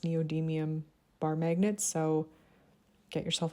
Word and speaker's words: neodymium: as strong as the pure I think it's pronounced neodymium bar magnet so get yourself a bar magnet